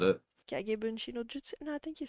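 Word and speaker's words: Kage Bunshin no Jutsu: Kagebunshi no jutsu. No, I think you said it right. Kagebushin no Jutsu.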